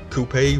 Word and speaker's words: coup: Coupe refers to a vehicle, a chariot. The word coup, while not a true homophone because the P is silent, refers to a seizure of power, a strike or move.